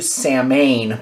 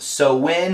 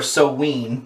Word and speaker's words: Samhain: saline shaving soap now I know the way it's spelt it looks like it's blue Samhain but from what I've looked up it's actually pronounced so when or so ween depending on who you